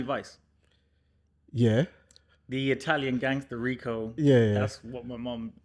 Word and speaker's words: Ricco: The Italian gangster Rico.